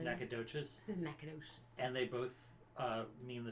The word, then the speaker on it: Nacogdoches: both have a Nacogdoches but in Louisiana it's called NACA dish and in Texas it's not pronounce it correctly Nacogdoches and they both mean